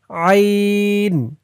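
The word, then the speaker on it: عين: ত আইন আইন আইনের উচ্চারণটা গলার ভিতর থেকে শক্ত হয়ে বের হবে।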